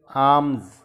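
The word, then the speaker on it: alms: अगला word आर्म्स यानी खैरात। इसमें एल के नीचे अंडरलाइन दी गई है, एल साकिन है।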